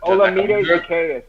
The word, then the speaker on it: Olamide Zacchaeus: Olamide Zacchaeus.